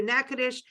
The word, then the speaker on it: Natchitoches: Thank you to Natchitoches, Arlene over there in Natchitoches, Louisiana. And I'm going to spell it. And it's Natchitoches, not Natchitoches, which I would have said for years, like, you know, Nancy, but it's NATCHITOCHES.